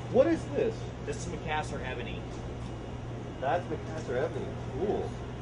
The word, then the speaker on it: Macassar: This is going to be a back of a guitar, and you can see how this Macassar, is that the right pronunciation?